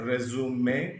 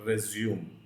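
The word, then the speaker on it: résumé: into any organization okay so I would encourage you to know dis pronunciation it is a resume and not resume okay yeah now what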